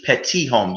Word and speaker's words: Petit-Homme: pronounced petty home in in american english pet tea home you wouldn't hear that second t um yeah but